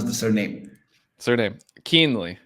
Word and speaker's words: Kuehnle: get into all those things how do you pronounce the surname surname keenly it's a lot easier than it looks keenly yeah nice nice I I was having some